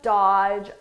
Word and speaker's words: dodge: He doesn't just dodge a rolling tower. Now, maybe you heard this word, dodge, but you probably didn't know how to spell it with that silent letter there, right?